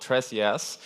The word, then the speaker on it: TresJS: Tres is a Spanish word for ThreeJS, and it's pronounced tres, and in reference of the library.